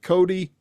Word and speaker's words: Cote: But I've watched I've I've watched some interviews of you and I've heard your name pronounced two different ways. So is it Cody? Cody.